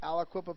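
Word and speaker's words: Aliquippa: a nice looking helmet there but yeah from alaka did I pronounce that correctly Alaqua Pennsylvania yes right hope well high school and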